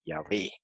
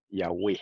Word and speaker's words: Yahweh: aprender a mostrar ahora, que la pronunciación antigua era Yahweh en cuanto al nombre sagrado.